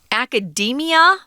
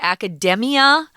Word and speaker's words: academia: The noun is academia, which is kind of weird because it looks like you would say academia to sort of copy the pronunciation of the adjective form. But we say academia. It's a long E vowel, which is kind of weird.